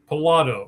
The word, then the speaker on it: Pilato: Pilato. All right. Like Pilates, right? Yeah, that's a good way. Okay. I say if you like to play the lottery, it's just lotto.